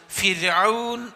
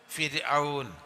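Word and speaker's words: فرعون: ഫിൽ ഫിർഔൻ റാഇന് കസറോ റാഇന്റെ മുമ്പ് കസറോ ആണെങ്കിൽ റാ എന്നതിനെ ഉച്ചരിക്കേണ്ടത് ര എന്ന ഉച്ചാരണത്തോട് കൂടിയാണ് നമ്മളെ യാ ര ലാ വ എന്ന് പറയില്ലേ ര രാൻ രാപകൽ ആ അക്ഷരമാണ് റാഇന് കസറ ആണ് അല്ലെങ്കിൽ റാഇന്റെ മുമ്പ് റാഇന് സുക്കൂനും മുമ്പ് കസറും ആണെങ്കിൽ അതുകൊണ്ട് ഫിർഔൻ എന്നാണ് പറയുക ഫിർഔൻ നേരെ മറിച്ച് റാഇന് ഫത്തഹോ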